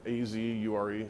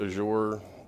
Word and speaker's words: Azure: right here, Azure. Some people pronounce it Azure. Some people say Azure. I don't think Microsoft said one way's right or wrong.